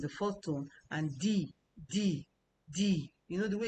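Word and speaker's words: 弟弟: And di di is the uh fourth tone as well. So, you can see from the pronunciation di di.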